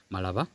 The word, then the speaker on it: Malaba: So in Malaba, yes, as the lawyer pronounce it, Malaba.